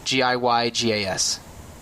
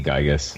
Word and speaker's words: Giygas: What's our take on pronouncing that word? Giygas. I think it's meant to be Gygus. Gygus. But That's how I always said it. It's like the unpronounceable Gigu or something in Japanese. So Sure. I mean, Gygus works. All right, I'll take Gygus.